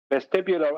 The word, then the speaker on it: vestibular: So 2 reference frames, an acceleration, and then you're into the vestibulary.